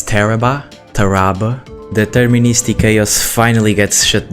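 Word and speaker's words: Tarrabah: I have never met anybody who can actually pronounce Teraba correctly. It's Teraba.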